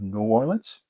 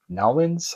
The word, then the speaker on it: New Orleans: This is the map of New Orleans, N'awlins, however you would like to pronounce it, which is pretty nice mounted board.